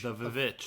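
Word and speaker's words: The VVitch: The Vivitch. A few years ago. Thank you for pronouncing it properly. Thank you for realizing that is the proper pronunciation for it. You put 2 V's in your title.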